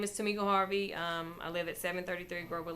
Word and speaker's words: Tamika Harvey: Tamika Harvey. Good evening. Did I pronounce your name correctly? Yes, you did. Thank you. Pronounced it correctly. My name is Tamika Harvey.